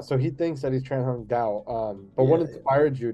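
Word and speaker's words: Trần Hưng Đạo: I mean, so the antagonist, and tell me if I'm saying the name wrong, Tran Hung Dao, correct? Yeah, Tran Hung Dao, yes.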